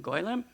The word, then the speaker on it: Golem: And so, but you know, our first question used the proper Yiddish pronunciation, Golem.